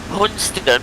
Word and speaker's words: Hunstanton: Hunston, which is spelled Hunstanton.